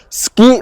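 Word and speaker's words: 好き: So, but suki, like, you hear like the U sound is kind of silenced, right? But to be honest, you're actually just pronouncing this.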